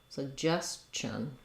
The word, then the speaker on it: suggestion: just Chun and then in this case the ti says the CH sound so just Chung suggestion um suggestion uh Justin